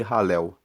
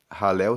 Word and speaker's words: Halel: Esses seis salmos são salmos que são conhecidos como salmos de ralel. Halel se escreve H a l e l e são